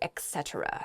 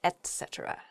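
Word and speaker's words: etc.: there are others as well so don't say etc that's not correct etc is good the next word is jewelry what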